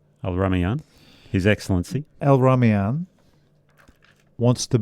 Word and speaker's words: Al-Rumayyan: Al-Rumayyan.